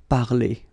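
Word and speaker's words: parlé: Okay, so parler, to talk, to speak, will give you parler. Okay, the good thing for the phonetical part is that it is the same. Parler, parler, you pronounce it the same.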